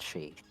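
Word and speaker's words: Sídhe: It's it's just pronounced she.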